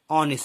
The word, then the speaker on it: honest: Like honest, see, he is an honest man. So here honest is an adjective here. Okay, but here h doesn't sound.